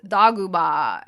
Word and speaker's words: Doguba: The droid in this episode is named Dogba, and it's pronounced Doguba in Japanese.